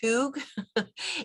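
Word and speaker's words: hygge: Um I put the word um it's actually pronounced hug.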